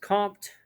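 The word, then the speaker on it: Comte: about how they thought august compt which is spelled august with an e on the end and compt is c-o-m-t-e developed theory of positivism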